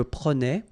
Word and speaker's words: prenais: So same thing here, final S not pronounced. Je prenais, tu prenais, il prenait, final T not pronounced.